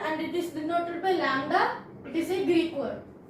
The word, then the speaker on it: lambda: It is a Greek word. Pronunciation is lambda.